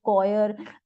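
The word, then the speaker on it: choir: हम सी एच को क की तरह अनाउंस प्रोनाउंस करेंगे जैसे कि क्रिसमस ये एक फेस्टिवल है रिलीजन से रिलेटेड है कोयर जो क्रिश्चन जो चर्च में ग्रुप सॉन्ग गाते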